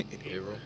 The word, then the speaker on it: Haverhill: What's the one that I mispronounced? You all yelled at me for. Oh, yeah. No, what was the one? Haverhill.